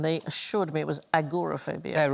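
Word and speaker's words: agoraphobia: Isn't it agrophobia? It Yes. It's not called agorophobia.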